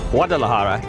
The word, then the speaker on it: Guadalajara: Guadalajara, pronounced Guadalajara, is Mexico's second largest city.